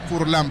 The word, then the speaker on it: Furlán: furlan creo que es furlán este es no pelido en su momento de un piloto argentino furlán Alí creo que la pronunciación correcta es furlán Pedro furlán acaba de